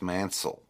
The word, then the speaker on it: Mancille: because I say manil it's pronounced Mansel but you say that over the phone and everybody's going what' you say Manson Manson no I